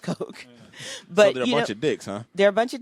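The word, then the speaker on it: Koch: brothers Coke is that how you say yeah but they're they're but it's pronounced Coke but they're a bunch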